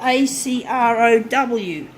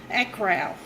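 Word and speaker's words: Acrow: It's spelled A-C-R-O-W, Acro. So, Acro.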